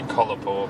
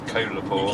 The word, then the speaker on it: Kolapore: I can't pronounce it I keep wanting to say colourpur but it's colourpop yeah think of Coca-Cola or a koala bear I don't know why I think of that but it helps me to pronounce it I think I'm gonna